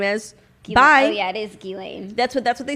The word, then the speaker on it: Ghislaine: Gileain is what they said is what they said in the documentary, but I don't want to give her the respect of pronouncing her name correctly.